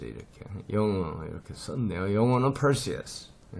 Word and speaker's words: Perseus: 이 친구는 영어로는 여기에 스트레스가 와가지고 pearl 이렇게 R을 이렇게 집어넣어야 돼요. Perseus 이렇게 있습니다. 페르세우스가 아니고.